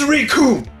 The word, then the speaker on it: Recoome: arts dragon ball z the names riku and it rhymes with doom and i like that line i stole it from team foster by the way yes we're gonna have a look at rikum another member of the